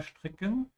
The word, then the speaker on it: stricken: Yeah, be especially careful with the verb here, stricken. Remember when the S comes before a T, most of the time it's pronounced sh.